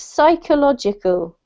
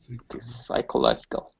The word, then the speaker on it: psychological: this one's in english is pronounced the silent p so you do not pronounce the p it's psychological psychological yeah perfect this one